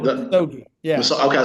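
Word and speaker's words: Misogi: you know, Masogi. yeah, Wait, it's called the Musogi.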